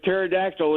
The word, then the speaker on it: pterodactyl: How is it that you can never tell when there's a pterodactyl in the men's room? How is it that you can never tell? I know this. Oh, that's mine, though. The P is silent.